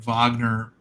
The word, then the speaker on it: Wagner: you know uh w-a-g-o-n-n-e-r so he's Wagoner and I I just try to get people to pronounce my name Wagner so that people know